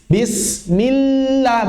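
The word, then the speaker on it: بِسْمِ اللَّه: Misalnya bismillah, bukan millah. Kalau kita bacanya millah, mirip rakhawah. Kalau kita bacanya millah, mirip syiddah. Berarti bagaimana caranya? Millah, millah, bismillah, bismillah.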